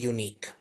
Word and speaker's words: unique: We can start it with a Y when we are pronouncing the word unique.